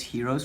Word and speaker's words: Hero: It's pronounced Hero's formula, and lucky for you, the person that invented it, Hero of Alexandria, is right in this building.